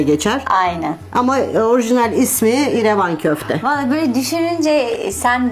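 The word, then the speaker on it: İrevan: kaldı şarkısıyla hatırlarsınız ama Türkler telaffuz ederken genelde rler başına iyi koyarız iradio irece Ramazan gibi revan irevan irevan denile denile irevan ismi oluşmuş E bu dananın sırt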